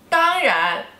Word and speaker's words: 当然: It is 当然, 当然, 当然, okay, 当, first tone, and 然, second tone, 当然, of course, 当然, okay, do you wear makeup?